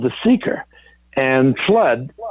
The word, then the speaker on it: FLUDD: called the seeker and flood spelled fludd in the poem the seeker by rudyard kipling is spelled like that and they thought how